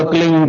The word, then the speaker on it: क्लीं: की मात्रा और बिंदी, उसका उच्चारण होगा क्लींग गा की ध्वनि निकलेगी पीछे।